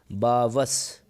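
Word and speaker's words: barbarous: बावस, बावस ये लिखा है हो, ये आर को आप साइलेंट टाइप में बोलें, बावस।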